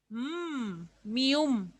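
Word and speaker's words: 미음: Mium hace referencia a la M, al igual que niun, la mium va a sonar igual cuando esté al centro, al principio o al final, va a ser una M, mium.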